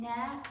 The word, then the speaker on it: gnat: In gnat, G is silent.